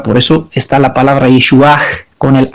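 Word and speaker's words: ישועה: eso está la palabra Yeshuach con el H al final. Bueno, dado que yo nací en Rumanía, puedo pronunciar el H al final, Yeshuach.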